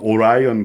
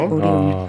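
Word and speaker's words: Orion: 1958년에 그 미국식으로 발음하자면 오라이언 프로젝트라는 게 있었죠. 네, 오리온. 네, 한국식으로 말하면 오리온이고요. 한국 및 전 세계 나머지 세계식으로 말하자면 오리온이고요.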